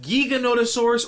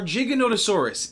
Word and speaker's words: Giganotosaurus: its name is it giganotosaurus or giganotosaurus it's time for a side note no really i searched online and i found out different sources either pronounce this dinosaur's name with a giga or jiga both pronunciations seem to